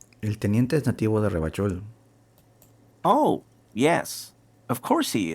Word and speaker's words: Ravachol: Has dicho Tú no dices Ravachol, tú dices Ravachol. I like to pronounce it the hard way. The old way. The Vespertine way.